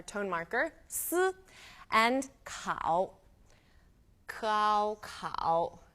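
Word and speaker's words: kǎo: marker and cow cow cow K a o third tone now cow is the owl and cow is quite similar to the ow sound in English it's just a slightly softer pronunciation cow now cause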